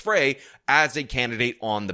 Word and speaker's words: Frey: people to not rank Jacob Fry who should have his last name pronounced Frey as a candidate on the ballot.